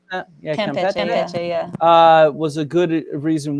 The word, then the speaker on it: Campeche: pronounce that. Yeah, Campeche, yeah.